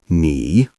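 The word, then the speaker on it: 你: The first word is ni which means you say it slowly. Great. Make sure your voice rises gently because this is the second tone.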